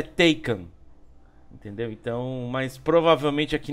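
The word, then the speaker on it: Taycan: tanto em inglês quanto em alemão el a pronúncia é Taken entendeu então mas provavelmente aqui no Brasil vai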